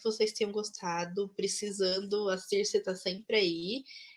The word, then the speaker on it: Circe: Sim, Cersei, muito obrigado. Circe, né, na verdade, desculpa, eu sempre erro a pronúncia do seu nome.